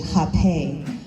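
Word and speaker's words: Rapé: explaining to me that, in Portuguese, that's how they pronounce the Rape, is actually Hape in Portuguese.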